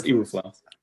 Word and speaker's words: Eberflus: How do you actually pronounce his name? It's Eberflus. All right, Eberflus.